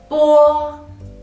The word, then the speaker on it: bo: You try to pronounce bo, the piece of paper will not move when you pronounce it. Bo, bo.